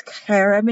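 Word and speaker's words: חרב: angels being cherubs but it's kareb and hebrew the ch is pronounced like a bach ch and this is written as a b but pronounced as a v c h e r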